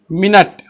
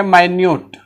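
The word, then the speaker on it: minute: चौथा वर्ड देखेंगे मिनट, इसका 2 प्रोनाउंसिएशन है और 2 अर्थ है। एक है मिनट और एक है माइन्यूट।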